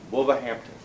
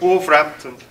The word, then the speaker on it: Wolverhampton: Wolverhampton. Yeah. Well, if you're a local, you say Wolverhampton. But yeah. I'm not trying it. They're in the back. Go on. Well, okay, wait. Wolverhampton.